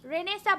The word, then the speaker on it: Renaissance: রেনেসাঁ বানানটা আমি একটু বলে দেই, RE, আপনারা একটু লিখে ফেলেন, RENAISSANCE। উচ্চারণটা হচ্ছে রেনেসাঁ, বানানটা হচ্ছে রেনেসান্স।